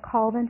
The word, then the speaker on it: Colvin: read a little snippet co lvin but the southern pronunciation sounds like CA ll called & Co lvin yes or septum up